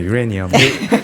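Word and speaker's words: uranium: 우라늄이 아니라 네, 유레니엄.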